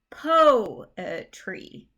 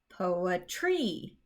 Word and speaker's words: poetry: that's telling us is we say po tree po a tree so the strong emphasis goes on that first syllable and the other two syllables are not as strong and another version of this they just have the po in bold to indicate that it's the stressed syllable compare that to if we said poetry poetry that's just not how we say the word um you may